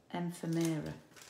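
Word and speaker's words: ephemera: it accessory pack but i think it's emphamera and premiere it's spelt e p h e m e r a and former i think that's how you say it um and this has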